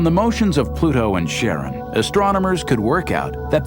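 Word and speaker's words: Charon: Christy suggested the name Karen after the ferryman of Pluto's underworld in Greek mythology but preferred to pronounce it Sharon more like his wife's name Charlene from the Motions of Pluto and Sharon astronomers could work out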